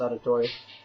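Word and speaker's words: Auditore: most you guys know Etso auditor or however you pronounce it I'm pretty sure it's auditori is my favorite assassin so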